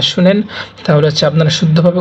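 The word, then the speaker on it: شين: আমরা দেখতে পাচ্ছি শিন শিনের উচ্চারণটা একটু মোটা হবে শিন শিন শিন অতঃপর আছে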